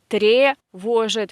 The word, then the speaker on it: тревожит: And this е, тревожит, we write е, but we say и, because it is again not stressed position, weak position.